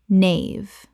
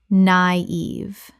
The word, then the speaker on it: naive: denouement denouement Word 145 naive Common mispronunciation. nave Correct pronunciation. naive Two syllables with a dieresis over the I, meaning both vowels are pronounced separately.